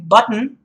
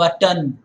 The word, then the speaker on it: button: listen to it properly I said button not button it's not but done it's button mmm it's very clear button it's not button button so the button was